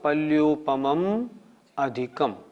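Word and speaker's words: पल्योपमम् अधिकम्: लोग कैसे बोलते हैं अपरापल्योपम अधिकम, न ऐसे नहीं। पमम अधिकम, माँ हलंत नहीं है। कैसे बोलना पड़ेगा अपरापल्योपम अधिकम, तब इसमें संधि विच्छेद होगा पल्योपमम अधिकम। इसलिए इसका उच्चारण ध्यान रखें।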